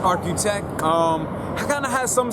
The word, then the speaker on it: RQTEK: spelled rqt e k it's not spelled like Arch it's architech um kind of has